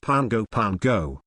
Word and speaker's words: Pago Pago: DC during standard time note pronounced Pango Pango administrative divisions non territory